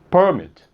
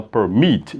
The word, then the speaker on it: permit: Então, porque você não fala permit, você fala permit.